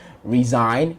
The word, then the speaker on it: resign: not the first one the first word resign it spells r-e-s-i-n-s-g-n sorry r-e-s-i-g-n but the s sounds more of a z just like the first